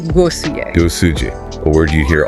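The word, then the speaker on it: głosuję: That phrase is głosujcie, and it's pronounced głosuje.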